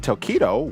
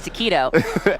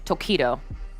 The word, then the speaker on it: Tokido: One of the highlights was the rivalry between Tokido, which was hard to pronounce for Kate back in week 1. It was, because I thought it was taquito, which I think are delicious.